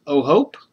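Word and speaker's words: O'Hoppe: O'Hope.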